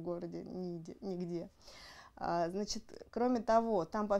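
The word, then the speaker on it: Niğde: Да, он читается как Нигде. Ниде, да.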